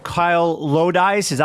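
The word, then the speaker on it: Lodise: Kyle Loise. Is that how you pronounce his name?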